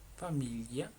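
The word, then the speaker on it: famiglia: Familia es familia.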